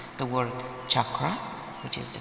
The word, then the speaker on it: chakra: And unlike those famous pretend energy healers who don't even know how to pronounce the word chakra, which is the correct way to pronounce it, chakra.